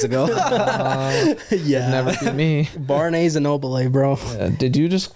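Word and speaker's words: Barnes & Noble: Barney's and Noble. Barney's and No, it's Barnes and Noble.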